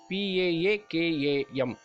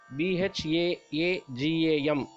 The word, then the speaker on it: பாகம்: இங்கே பாகம் என்று உச்சரிக்க வேண்டும். PAAKAM. பாகம் இல்லை, BHAAGAM இல்லை.